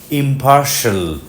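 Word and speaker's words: impartial: influential ইনফ্লুয়ে influential নিরপেক্ষ ইম্পার্শাল ইম্পার্শাল মধ্যের সিলেবলে জোর পড়বে সে কারণে প এর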